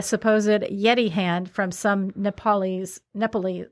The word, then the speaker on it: Nepalese: Negotiated to buy a supposed Yeti hand from some Nepalese.